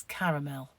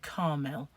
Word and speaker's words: caramel: e l well it's caramel and i've heard it called caramel but that's got an a in it that isn't said if you call it